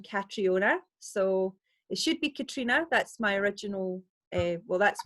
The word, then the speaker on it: Catriona: and I am Catriona so it should be Katrina that's my original well that's what I should